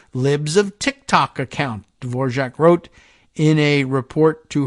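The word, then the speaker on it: Dvořák: of tick tock account dor jaac wrote in a report to her superiors I'm assuming that she goes with the same uh pronunciation as the composer of the same name DV o r a k tell me if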